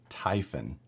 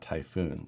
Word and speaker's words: Typhon: hard can it be it's pronounced typhon not typhoon so what typhon how